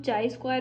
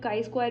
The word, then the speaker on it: chi-square: इसको हम चाई स्क्वायर भी प्रोनाउंस कर सकते हैं, काई स्क्वायर भी प्रोनाउंस कर सकते हैं, जैसे भी आपको ठीक लगे.